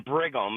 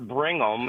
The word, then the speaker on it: Brigham: There's no N in Brigham. It's not Bringham.